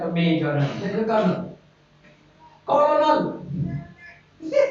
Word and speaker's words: colonel: Like a major, there is a colonel. Colonel! Yes, right, colonel. And they speak pronounced colonel, journal, colonel.